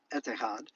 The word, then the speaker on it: Etihad: in Arabic letters, but the way you pronounce it would be etihad.